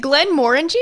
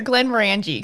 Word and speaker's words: Glenmorangie: you want to say is it glenn moringe or glenn morangie cause i googled it and they gave me both pronunciations so the way that i often hear it from people who are from european descent is glenn moringe i typically call it glenmorangie noah be the deciding